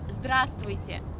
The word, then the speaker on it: здравствуйте: So hi in Russian is здравствуйте. Oh, I shouldn't have said there. Sorry. Again. So hi in Russian is здравствуйте. Okay. Try to repeat. Grass is here. It's like Oh my god. Здравствуйте.